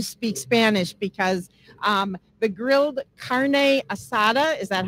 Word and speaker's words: carne asada: We're doing grilled carne asada tacos.